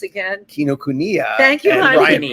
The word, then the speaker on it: Kinokuniya: You're in Barnes and Noble and that bookstore that I can't pronounce again. Kinokuniya. Thank you, and honey. Bryant Park. Kinakayua.